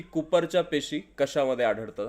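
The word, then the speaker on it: Kupffer: यामध्ये आढळतात Cooper cells याला क्च्युली कुपर सेल्स म्हणतात ते मराठीमध्ये कुपर अस प्रोनन्सिएशन आहे ओके याच उत्तर असेल यकृत लिव् लिव्हर मध्ये कुफर सेल्स पाहायला मिळतात डायग्राम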